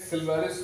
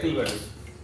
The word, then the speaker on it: Clivarius: सिल्वारिस beauty device, इसको बोलते हैं सिल्वारिस या किल्वारिस। अलग अलग यूरोपियन प्रोनाउंसिएशन के हिसाब से या अमेरिकन प्रोनाउंसिएशन के हिसाब से आप दोनों ही बोल सकते हैं, दोनों सही है। सिल्वारिस भी सही है, किल्वारिस भी सही है, तो कंफ्यूज नहीं होना